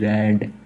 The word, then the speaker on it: RAID: RAID, रैड। तो दोस्तों रैड की स्पेलिंग थोड़ी अलग होता है, लेकिन दोस्तों हम इसको भी रैड बोल सकते हैं, RAID का।